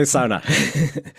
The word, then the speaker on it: sauna: I tried to adopt saying sauna just so people don't like look at me quizzically when I say it, but it's not the right way to say it. It's the only Finnish word in the English language. You have to say it right.